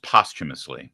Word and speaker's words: posthumously: don't want to nitpick but it's pronounced postumus and when somebody says